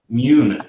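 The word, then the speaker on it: Muun: How do you pronounce that? Mun, Immune. Mune. There we go.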